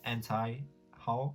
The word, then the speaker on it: anti-haul: gonna do a cute auntie anti-haul anti-haul is how you pronounce it uh so yeah that's